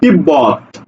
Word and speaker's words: তিব্বত: বটা উচ্চারণ হয় যেমন তিব্বত তিব্বত তিব্বত বলি না তিব্বত বলি না বলি কি তিব্বত তিব্বত ঠিক আছে দেখো এই জায়গাতে ব ফলের উচ্চারণ হচ্ছে সাব্বাস দেখো তালব্য স